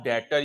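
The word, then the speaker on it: debtor: ठीक है भाई और डेटर इसमें बी साइलेंट है बेटा यहां तक कोई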